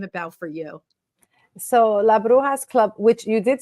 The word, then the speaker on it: bruja: So La Brujas Club, which you did say correctly behind the scenes, but it's just bruja like an H.